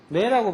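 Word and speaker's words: 目: 눈목자는 뭐라고 발음해요? 매라고 발음하죠.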